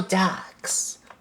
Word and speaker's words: Dux: Um, Leo ducks. Leo ducks. The ducks is is not the the duck that that that quacks.